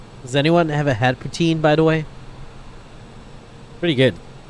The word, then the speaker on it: poutine: Canadian and you say I would like some futen they'll bring you one and you're gonna have it you're gonna have to also pay for it forget that protein does anyone have a hat poutine by the way pretty good I feel lactose